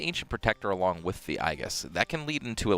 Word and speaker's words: Aegis: you get to the Aegis. Aegis. So I took Latin, okay? Mm-hmm. A-E next to each other is pronounced I.